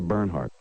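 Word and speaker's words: Bernhard: you don't even know how to say her name her name is Sandra burnhard but you've been drinking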